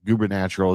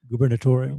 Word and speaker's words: gubernatorial: we talk about the Ohio uh Governatural uh gubberal, is that how you say it? gubernatorial gubernatorial uh race the governor's race here in Ohio between Vivic Ram Swami and uh uh Dr.